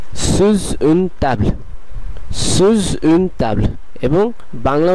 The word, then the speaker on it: sous une table: করে ফেলছে, যেমন pendant une, একই সাথে এটির উচ্চারণ করতে হবে। তৃতীয় উদাহরণটি আমরা দেখতে পাচ্ছি যে এটি এসটা এর সঙ্গে সংযোগ হয়ে sous une table, sous une table, sous une table, এবং বাংলা উদাহরণটিও বাংলা বিকল্পটিও